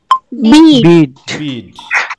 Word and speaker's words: Bede: হ্যাঁ, তাহলে আমরা পেয়েছি এটা হচ্ছে কি, BEDE, উচ্চারণ কি হবে? বিড।